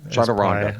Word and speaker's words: Chaturanga: top line saga abilities, and they call it Chaturanga. Yeah, I think Chaturanga. Chaturanga, thank you.